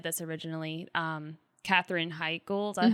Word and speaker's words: Katherine Heigl: Katherine Heigl, is that how you say her name?